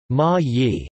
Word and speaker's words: Ma-i: Ma'ai in the island of Mindoro in Luzon, pronounced Ma-yi, which was a pre-Hispanic Philippine state.